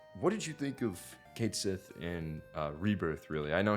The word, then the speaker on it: Cait Sith: But Rebirth does like show other things with Cait Sith, Ketchi, however. Like, do we just need like an Irish person? No, To, there's like- a right way to say it, and it's Cait Sith.